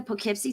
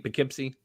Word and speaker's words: Poughkeepsie: Poughkeepsie oh man have you ever seen the Poughkeepsie tapes that's the scary so that's how you pronounce it Poughkeepsie yeah all right Gene Hackman